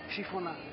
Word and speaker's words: chiffonade: Chiffonade. Ah, chiffonade. La chiffonade. La chiffonade. Chiffonade se escribe, pero ¿cómo se dice posta?